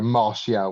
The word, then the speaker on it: Martial: Yeah, it's probably taking go Martial with a silent T.